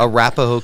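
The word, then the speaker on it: Arapahoe: So Matt, help us understand, you work for, how do you pronounce the county you're in? Arapaho County Sheriff's Office. Arapaho County.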